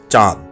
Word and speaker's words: চাঁদ: সঠিক উচ্চারণ চাঁদ। চন্দ্রবিন্দুর ব্যবহার রয়েছে। আমরা অনেকেই ভুল উচ্চারণ করে বলি চাঁদ, চন্দ্রবিন্দুর ব্যবহারটুকু করি না। এখন থেকে সঠিক উচ্চারণ করে বলবো চাঁদ।